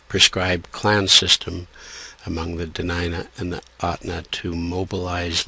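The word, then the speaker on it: Dena'ina: The original pronunciation is DeNina, at least in the outer inlet or Kenai dialect, and largely in the upper inlet or Susitna area. In the inland area, it is often said DeNina.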